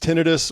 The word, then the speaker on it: tinnitus: So yeah, it could be pronounced tinnitus or tinnitus. I pronounced it tinnitus until I started doing field work and studying it. And then all the clinicians I was working with were pronouncing it tinnitus. So now that's how I pronounce it.